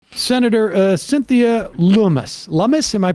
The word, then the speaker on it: Lummis: senator uh cynthia lumas lumis am i pronouncing her i think it's lumis actually not loomis llamas she is um she's